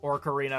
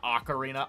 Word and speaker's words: Ocarina: fake like the Luigi's Mansion movie and the Ocarina of Time uh remake in order to Yeah. find the mole. Yes. Orc Aarena of Time. Yes, the Orcs. What is it? Ocarina.